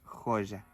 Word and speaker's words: joya: La letra J, a diferencia del portugués que es J, por ejemplo la palabra joya, en español decimos joya.